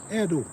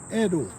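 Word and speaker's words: Eddoe: what I'm saying do you know how to spell that plant name the the Edo the Edo is e d d o e Edo e d d o e Edo do some res on the pl and see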